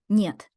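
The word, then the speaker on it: нет: as in never here's a useful Russian word niet it means no yet means no let's recap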